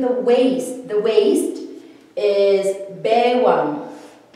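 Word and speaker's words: baywang: The waist is bewang. We spell it like this. It's baiwang, the formal spelling, but when we say it, or even when we write it like it's bewang.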